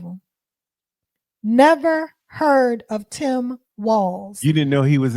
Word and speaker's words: Walz: other thing it's pronounced walls and not not Walts people have been calling him Waltz but there's no T it's just W LZ and it's pronounced walls like to the window to the walls um um and and